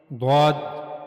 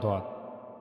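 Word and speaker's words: ض: Now the origin of bod is side of the tongue. Okay, this is the side of the tongue and it's the right side of the tongue. Okay, it's the right side of the tongue and it will meet the roots of the upper mullers.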